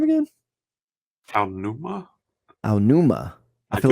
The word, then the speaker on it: Aonuma: Aonuma.